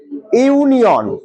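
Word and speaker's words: union: আবার পরেরটা দেখো, ইউনিয়ন, উচ্চারণটা কি? ইউনিয়ন, তাহলে উচ্চারণটা কি দিয়ে শুরু হচ্ছে? ইউ দিয়ে শুরু হচ্ছে, তার মানে কি হবে এখানে?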